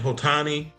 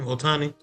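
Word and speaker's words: Ohtani: Otani is is how you say his name. Otani.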